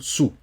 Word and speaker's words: sous: Par exemple, sous, on ne prononce pas le S.